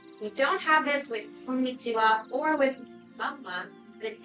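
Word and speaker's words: こんにちは: You may have learned that this means ha But in these expressions, konnichiwa and konbanwa, we use this wa here, like this.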